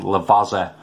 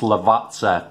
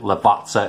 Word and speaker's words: Lavazza: section that i'm pronouncing lavazza wrong and it's pronounced lavazza because a double z in italian is like sort of like pizza it was explained to